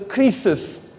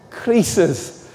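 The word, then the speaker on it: κρίσις: the word judgment means, it pronounces krisis, krisis. Now, the word krisis in Greek sounds like crisis.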